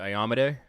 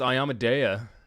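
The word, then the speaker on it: Iomedae: was pronouncing it because i would always pronounce it i yamaday and my buddy was like nah man it's ayamadeya and i was like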